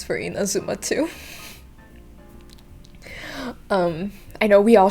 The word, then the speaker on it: Inazuma: speaking people in general, they'll pronounce it Inazuma with the intonation at the third syllable. But in fact, when I asked my girlfriend, because I couldn't tell, but for me and many other Japanese speakers, the intonation will go into the first or second syllable, so it's Inazuma.